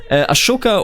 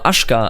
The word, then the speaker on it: Ashoka: Ashoka or Ashka, I think it's pronounced Ashoka, right, of the Mauryans, ushered in an era of peace for all of India.